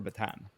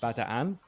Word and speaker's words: Bataan: We're jumping into the meat and potatoes of what is the battle for Batan, which is actually apparently it's supposed to be pronounced Batan, but I've my whole life it's been batan, so I have to pronounce it like that.